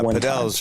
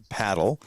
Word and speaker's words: padel: In Texas, they pronounce it paddle. In France and Spain and Florida, evidently, they pronounce it padel.